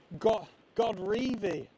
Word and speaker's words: Godrevy: Peter, I am in Godrevy, as Tess kindly shared the correct pronunciation with me. Godrevy Beach, north coast of Cornwall, but it's down South Cornwall, so that's not confusing.